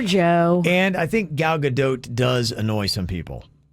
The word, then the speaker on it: Gadot: name is gal gadot gadot goat if you're saying that that is wrong you're telling the woman who has the name that she's saying her own name wrong so there you go kevin you're just wrong because she's not french she's israeli chemical yelled at saying